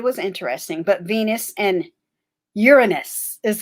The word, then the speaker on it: Uranus: But Venus and Uranus is how it's pronounced, not Uranus. It's pronounced Uranus.